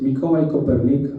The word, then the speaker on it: Mikołaj Kopernik: Because Mikołaj Kopernik, I am pronouncing in Polish, because he was from Poland, was the first guy,